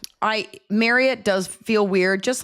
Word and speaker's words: Marriott: Kudos to you for pronouncing it correctly. It is Marriott only because you've done ads for them